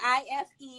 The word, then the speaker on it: Ife: Spelled I-F-E. It's pronounced Ife.